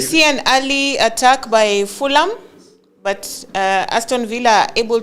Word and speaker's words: Fulham: The H is silent, so yes, I believe you did. Fulham. But So initially I said Fulham, and then Tom was like, no, the H is actually silent.